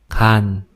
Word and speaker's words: 간: you can hear that the Korean initial ga sound is much harder than what we might expect if we just read it as like the G in English.